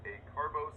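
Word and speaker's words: acarbose: the nclex alpha glucosidase inhibitors ending in oats like a carbos and precose guys they rhyme with gross since they cause massive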